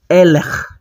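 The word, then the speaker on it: אלה: Aí eu vou falar eler.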